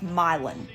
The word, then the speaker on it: Milan: are just pronounced wrong you think this would be milan like you know the city in italy no it's milon milan oh you know